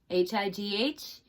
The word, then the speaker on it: high: Okay, and then this word, H-I-G-H. We know that I-G-H says I, so the word is high. So what are the silent letters? G and H.